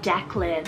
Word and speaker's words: Declan: irish god of the sea then i have declan spell d-e-c-k-l-a-n or you can do d-e-c-l-a-n now